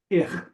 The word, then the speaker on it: ich: Ich. Ich is the German Yiddish word for I. Ich. Ich. Yeah. Okay. Not quite like fish, but ich.